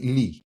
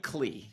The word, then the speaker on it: Klee: Although I still have a few questions about, your past life, which is, so Kelly Klee or Kelly Lee? Kelly Klee. Yeah, my partner. You do pronounce the K.